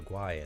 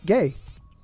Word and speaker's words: Guay: Like Rebecca Guay and whatnot. Gay. Sorry. We were pronouncing her name wrong for years.